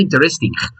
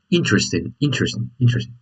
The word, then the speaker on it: interesting: Remember, the accent goes on the first I. So you could say, oh, that's interesting. You don't say interesting. Okay, so the pronunciation is interesting.